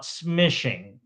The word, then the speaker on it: smishing: So, instead of calling SMS, we call it smishing. and it rhymes with fishing.